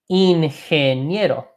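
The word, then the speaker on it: ingeniero: go into engineer okay in handy get o in hand yet o in hand you know I'm gonna make a small pronunciation point I'll highlight it in green here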